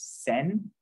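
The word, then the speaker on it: 千: just uh they change it for ease of pronunciation and there's also thousand it's not on this chart thousand is Sen send so you might see that you know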